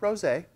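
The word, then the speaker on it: rosé: lot of people want to call it the rose wine but it's pronounced rose a so we'll call it rose a what that means is that the wine generally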